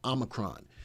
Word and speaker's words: Omicron: So we all know what's going on with the new variant, the Omicron, not Omicron. I've been saying it wrong. It's Omicron.